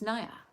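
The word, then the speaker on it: jñāna: or non wisdom it's the opposite of knowledge which is nya yeah actually and it's spelled G in yaa that's where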